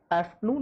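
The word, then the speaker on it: afternoon: PM तक आप लोग आफ्टरनून बोलोगे। इसमें भी ये आफ्टर नहीं होता, क्योंकि आर से पहले क्या आ गया? ई आ गया, वोवल। तो हम इसमें आर का उच्चारण नहीं करेंगे।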